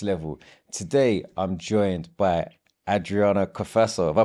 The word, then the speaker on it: Adriana Cafasso: to the next level today I'm joined by Adriana kaaso have I pronounced that correctly yes you have better than